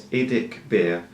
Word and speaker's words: IDICBeer: And for anyone who actually doesn't know how to pronounce my channels, I know it's hard, especially if you're in different countries. Yes, it's IDICBeer.